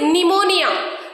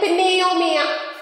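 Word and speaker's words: pneumonia: the rule see here first word is निमोनिया वी आर not saying पनियो मिया वी आर not pronounce P silent P is silent देर देयर is combination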